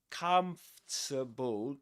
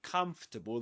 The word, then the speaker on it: comfortable: But you don't pronounce it. You just say com. Comfort. Forget about the this this thing. This o r just forget about that. Okay, you say comable.